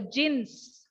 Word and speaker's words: djinns: their problems to the jinns. Underline the word DJINNS. Please don't talk when I'm talking. Okay, I'll give you a chance to talk. DJINNS. How do we pronounce that? It is jinns.